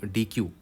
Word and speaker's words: deque: समझ में आ जाएगा इसको बहुत लोग डेक भी परम प्रोनाउंस करते हैं और उसका करेक्ट प्रोनंसिएशन वही है डेक ठीक है इस तरह प्रोनाउंस करना है इसको डेक design your implementation of